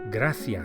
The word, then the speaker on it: gracias: which in Spanish is graas graas the C of graas is pronounced as an English th as in thanks the same word graas graas to say thank you very much it's muchas gracias literally many thanks muchas